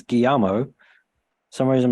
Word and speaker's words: Guillermo: It's Guillermo. For some reason, my brain just kind of went into default of just reading how it's written. Guillermo del Toro's Mark Gustafson